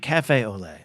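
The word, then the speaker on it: café au lait: that Aiden uh Scotty says say it like Cafe Olay oh okay Cafe Olay do I have do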